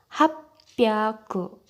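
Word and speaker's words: 八百: Jadi 300, 600, dan 800 itu pengucapannya berbeda, bukan hyaku. Jadi kalau 300 itu sambyaku, 600 ropyaku, dan 800 hapyaku.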